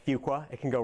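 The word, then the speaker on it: Fuqua: I did at Duke's business school which is pronounced fua it can go wrong in a hurry uh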